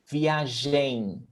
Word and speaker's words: viagem: see me yes so pay attention to my mouth like via jane it doesn't even close my lips don't even close to make the m sound so via jane bagan